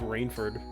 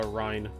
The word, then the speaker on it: Reinford: their children here because i decided it was like rainfored uh you know in my head but i guess it's a rhine it's rhyme time i'll